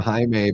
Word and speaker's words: Jaime: We have a Spanish guy at work named Jaime, but pronounced Jaime.